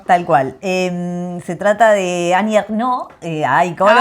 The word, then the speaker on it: Annie Ernaux: esta mujer, y Lucía dice, el nombre se pronuncia así, Annie Ernaux.